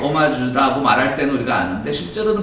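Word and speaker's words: hommage: 이제 이거는 존경한다는 뜻인데 일단 불어기 때문에 H로 시작하는데 오마주라고 읽습니다.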